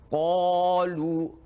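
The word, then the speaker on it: قالوا: Qalu, tidak boleh ka, tapi qalu apabila yang dilafalkan huruf qaf.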